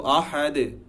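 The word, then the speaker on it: أحد: আরেকটা জিনিস খেয়াল করার ব্যাপার আছে এখানে, আহাদ, হ্যাঁ, হা, এটা কিন্তু হা না। আমরা অনেকে হতে পারে যে আহাদ বলি, এটা উচ্চারণটা এমন না, এটা হবে আহাদ, হা। একটা হচ্ছে নর্মাল হা, হ, আর একটা হচ্ছে হা। সেই হাটা ঠিক এই জায়গা থেকে উচ্চারণ হয়, হা, হা, হা, খুবই ডিপলি উচ্চারণ হয়।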